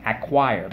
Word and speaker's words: acquire: you gain something important acquired let's go ack choir acquire first syllable ack second syllable choir and when you acquire